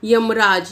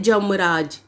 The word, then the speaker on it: यमराज: हो रहा है जैसे यमराज यमराज को कैसे बोल दिया जाता है जमराजा रहे हैं जमराजा करो तो इस तरीके से य की जगह ज का यूज किया जाता है उच्चारण करते समय नेक्स्ट